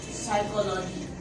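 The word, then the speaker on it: psychology: पी कहाँ silent होता है कि जब भी पी एक से पहले लिखा जाएगा तो पी को साइलेंट रखा जाएगा। फॉर एग्जाम्पल हमने एक वर्ड लिखा साइकोलॉजी, तो आप इसको फिजियोलॉजी करके नहीं पढ़ सकते।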